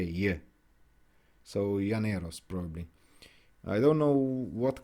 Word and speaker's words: Llaneros: Probably Llaneros. Llaneros? Because I know in Spanish when there's a double L, it's pronounced as a J. Yeah. So Llaneros probably.